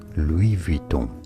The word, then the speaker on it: Louis Vuitton: LV is for Louis Vuitton. Louis Vuitton is how you say it in French.